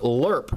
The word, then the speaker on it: LRRP: long-range recon patrol and in another parenthesis it says it's pronounced lerp his file name is